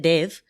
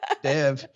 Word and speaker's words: Dev: I would pronounce it Dave. So of course you would. I'm an American from the Midwest. Dev. It actually should be, now that I'm in Texas, it should be Dev.